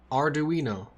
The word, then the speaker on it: Arduino: say it so Arduino oh I was right Arduino Arduino Arduino uino yeah always look up the pronunciations that's what I do when I'm unsure